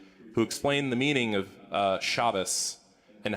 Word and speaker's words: Shabbos: and aunt randy who explained the meaning of shabbos and how that was the more correct way to say shabbat and if anyone told me otherwise they should